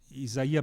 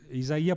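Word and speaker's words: Isaiah: Portanto, é quando Vico, isso disse muito bem Isaia Berlin. Isaia porque é é a pronúncia correta, não é? Isaia Berlin, não é o russo, né, como a gente sabe.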